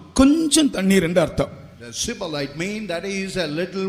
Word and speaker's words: Shibboleth: and you would say surplus water, ஷிபோலேத் என்று சொல்லுங்கள். you say Shibboleth, சொல்லுங்க பார்க்கலாம். ஷிபோலேத், Shibboleth. இப்போ நீங்கள் ஒரு காலம் சிபோலேத் என்று சொல்லக்கூடாது. அது அவர்களுக்கு அந்த எப்பிராயிமருக்கு இந்த ப்ரொனன்சியேஷன் வராது, உச்சரிக்க முடியும்.